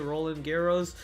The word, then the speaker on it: Roland Garros: I was watching Roland Garros, that's how you say it, Roland Garros.